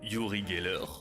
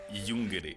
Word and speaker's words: Uri Geller: Non, il est surpris par la prononciation que les enfants ont de son nom. Il s'appelle Yuri Geller et les enfants semblent plutôt prononcer Yungré.